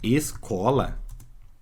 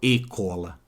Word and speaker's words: escola: ver ó Nascente agora quando eu tenho a palavra escola ó eu escuto aqueles eu escuto que ele é se ó eu falo e escuto escola mesmo ó escola eu não falo e cola percebe como agora esse